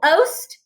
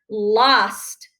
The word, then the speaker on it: lost: But would I say that my cat is lost? No, I would say that it is lost. So it's still a closed syllable because it has that short ah sound and not the o. So we wouldn't tap it oast. It's lost.